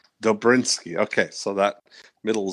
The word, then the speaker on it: Dobrynski: It's pronounced Dobrinsky. Dobrinsky, okay.